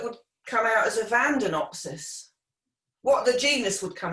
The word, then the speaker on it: Vandaenopsis: It would be pronounced Vandanopsis, but it's kind of spelled Vandaenopsis, Vandanopsis.